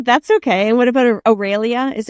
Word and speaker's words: Aurelia: And what about Aurelia? Is Aurelia? How am I say it wrong? Aurelia.